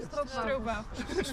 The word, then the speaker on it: Stroopwafel: Stroopwafels.